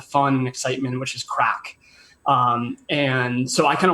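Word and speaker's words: craic: there you go but it's pronounced correctly saying crack hot sauce it's not meant to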